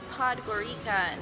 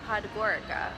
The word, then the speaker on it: Podgorica: It's pronounced Podgorica, not Podgorica, we found. But we're at the bus station. We're ready to go home. Podgorica.